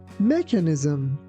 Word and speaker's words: mechanism: Be careful that ch doesn't sound like ch. It sounds like c. That's why we say mechanism. And also be careful that we don't say mechanism.